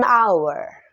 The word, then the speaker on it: hour: Hour adalah kata yang diawali oleh huruf konsonan yaitu huruf H. Namun pada pengucapannya yaitu berbunyi huruf vowel. Maka artikel yang kita gunakan adalah artikel N. An hour.